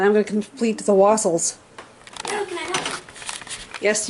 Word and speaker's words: wassail: Not waffle, wassail. I said it right.